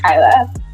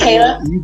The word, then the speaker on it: Kayla: Do we pronounce your name Kayla or Kyla? It's Kayla?